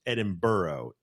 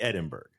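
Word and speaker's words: Edinburgh: If you could please explain to me why Edinburg is pronounced Edinber even though it clearly should be Edinburg.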